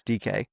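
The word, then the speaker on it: Dike: It's spelled dyke but it's DK.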